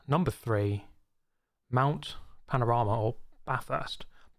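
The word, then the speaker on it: Bathurst: three Mount Panorama or ba first B first if you want to say it wrong and annoy all Australians and um oh let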